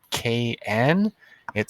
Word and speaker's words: knit: a lot of times when a word starts with KN it sounds like n mm like knitting or no it sounds like N knit no and not sounds like N it's a silent K let's look at the